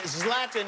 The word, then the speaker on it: Zlatan: on April 28th you want to see slapping slapping is the correct pronunciation yes love them thank you very much